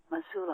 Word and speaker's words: Mosul: While deployed in Mosul, is that how you pronounce it? Mosul, Iraq.